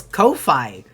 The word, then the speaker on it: Ko-fi: Creators say it's meant to rhyme with lo-fi. I am always on the right side of history when it comes to pronouncing words, because I look these things up. I don't care if the creator of GIF pronounces it like GIF. It's a graphics image file. A graphic image file. You don't say graphic. So it's Ko-Fi.